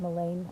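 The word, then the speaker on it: mullein: I'm in Flagstaff and there's a ton of mullen growing. I used to call it Malain. I still like that because I like pronouncing the vowels.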